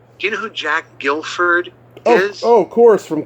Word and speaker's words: Gilford: And so he said, keep the U out of it, just Guilford, Gilford.